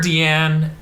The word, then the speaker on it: Diane: as voice goes like Deanna or Dean they call her deian yeah it's spelled Diane yeah it's Diane but this like Dean um which is the